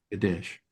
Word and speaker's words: Kadesh: Uh, there is a city that we're going to be reading, and that is the city of Kadesh. Am I pronouncing that correctly, Rabbi Mary? Yes, yeah. Kadesh.